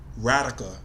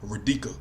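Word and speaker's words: Radhika: Aaliyah when it's Aliah her name was pronounced radica he kept calling her Rika some of yall might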